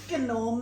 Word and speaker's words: gnome: So yes, in case you didn't watch last time, I know the G is silent.